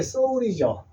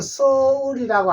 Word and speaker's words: 서울: 말이 되는데 이게 서울인데 발음은 영어 발음은 서울이라고 않거나 안 하고 소울이라 합니다 소울 소울이라고 발음이 나게 돼 있어요 그래서 외국인들은 소울 소울이라고 하더라도 우리는 서울이라고 우리가 발음을 해 주시기 바랍니다 자 그다음 글씨 자